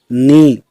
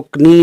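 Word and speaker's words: knee: जैसे निट इसको हम कनिट नहीं बोलेंगे, नी इसको कनी नहीं बोलेंगे, नाइफ इसको हम कनाइफ नहीं बोलेंगे।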